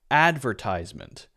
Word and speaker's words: advertisement: words right for example Americans say advertisement advertisement advertisement in American English no matter how you spell it right in American English if you say that advertisement the first syllable is stressed advertisement and it's a ties sound you might hear in British English more often a stress on the second syllable so adver adver and then